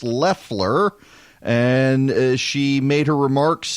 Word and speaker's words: Loeffler: now I've been saying Loffler but it is pronounced Leffler and she made her